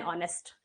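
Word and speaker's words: honest: sound जहां पे आएगा वोवेल साउंड एच इसमें साइलेंट होता है ना तो हमारा क्या हो जाएगा एन एन ऑनेस्ट नेक्स्ट choose the correct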